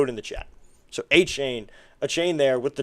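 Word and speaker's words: Achane: A chain.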